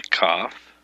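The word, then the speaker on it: kaph: um yod is 10 cough is 20 this pronounciation is a k hard k sound as in king the cough is the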